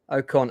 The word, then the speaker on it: Okon: So uh first of all, ladies, first we have the wonderful Georgina Elizabeth Okcon. Am I pronouncing that correctly? Okone or Okon.